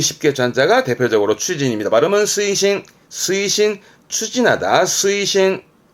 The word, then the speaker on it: 推進: 추진입니다 딱 외우기 쉽게 한자가 대표적으로 추진입니다 마음은 스이신 스이신 추진하다 스이신 좀 어렵다 이거는 천 자라